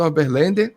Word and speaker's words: Oberlander: Convidar agora também o Oberlander, da Caramurê. se eu falei o seu sobrenome errado, você pode me corrigir. Falou porque... mais ou menos. A pronúncia é um pouco diferente. É Oberlander.